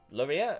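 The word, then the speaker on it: Loria: a little hidden away carpenter shop in town laureate oh it's spelt l-o-r-i-a of course oh i was close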